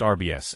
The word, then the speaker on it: Arby's: Arby's is pronounced RBS, and they serve roast beef.